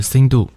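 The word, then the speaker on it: सिन्धु: 所以印度河呢，梵文的发音是 Sindhu，藏文是什么呢？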